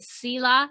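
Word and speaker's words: Selah: i'm thinking back um is it sila is that how you say it s-e-l-a-h yes um that's incorporated into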